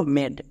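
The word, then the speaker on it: made: এবার শেষে ই আছে, সেই ইটা সাইলেন্ট, তাহলে এই শব্দের উচ্চারণটা কি হলো? মেড।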